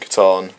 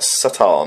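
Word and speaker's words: C'tan: But we'll be talking about the Transcendent Catan. Also, I heard people talking like Satan or like Catan or it's, Satan. It's Catan. I believe it's a hard K, like the Greek K.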